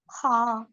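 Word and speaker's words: خ: হা এরপর আছে খচ্চারণ হবে একদম ভিতর থেকে খ্যাঁ খ এই উচ্চারণটা শিখতে পারলে ইনশাল্লাহ আপনি আর সামনে বেশি কষ্ট নাই এই উচ্চারণটাই আরবিতে বেশি একটু কঠিন উচ্চারণ আপনারা শিখে নিতে হবে একটু কষ্ট করতে হবে হ্যাঁ তাহলে এটা হলো খ ভিতর থেকে এই দেখেন ভিতর থেকে আসতেছে এরকম উচ্চারণ খ এরপর আসুন দাল দাল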